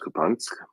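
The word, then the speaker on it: Kupiansk: a route to kubunk spelled kubiansk pronounced kubonsk on the 8th of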